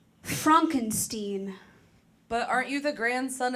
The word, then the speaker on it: Frankenstein: That's Frankenstein. I beg your pardon? My name, it's pronounced Frankenstein.